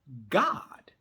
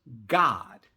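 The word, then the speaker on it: גד: Testament / covenant, and the Hebrew word is pronounced God. So the word that they transliterated into English, troop, actually in the Hebrew, it actually is pronounced God.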